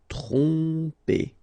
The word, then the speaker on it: tromper: Tromper, okay, same thing here, OM, so, and after that you get a consonant, so technically you will pronounce it like a nasal here, OM will go like on, tromper, tromper.